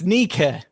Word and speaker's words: Nike: uh and is now pronounced a bit like nee key end of le cadobili nikki okay sir are you willing to change your stance at all that's much more like nike yeah i i'm pretty